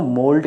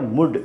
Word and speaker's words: mould: जो होते हैं वो मोल्ड का प्रयोग करते हैं, नरम मिट्टी का यूज़ करते हैं, हम उसको मोल्ड कहते हैं। इसको उच्चारण में मुल्ड नहीं पढ़ते या मुड नहीं पढ़ते हैं।